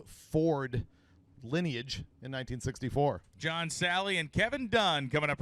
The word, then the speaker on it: Salley: the many guys who corrected his last name pronunciation form yesterday John Sally in Assassin grass charger goes 1129 and Robert